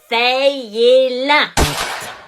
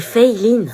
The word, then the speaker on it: Feyline: C'est Feyline. Feyelin. Feyelin? C'est Feyline. Bah, c'est écrit Feyelin. Oui, mais ça se prononce Fey, c'est américain en fait. Et Line parce que c'est asiatique. Ah, bah, ils ont mis un accent.